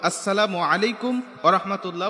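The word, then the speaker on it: السلام عليكم ورحمة الله: এইভাবে সালাম দিব না সালামের উচ্চারণটা আমরা সঠিক ভাবে দেব আসসালামু আলাইকুম ওয়ারাহমাতুল্লাহ বলে আমরা সবাইকে সালাম দেওয়ার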